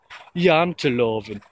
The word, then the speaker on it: janteloven: It's called janteloven. Janteloven. Janteloven. That's how I would pronounce it.